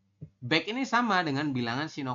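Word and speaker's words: 백: 100 ini bunyinya back. Back ini sama dengan bilangan Sino Korea.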